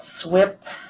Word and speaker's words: SWPPP: I'll remind everyone at first that SWIP is spelled SWPPP, and it stands for the Stormwater Pollution Prevention Plan.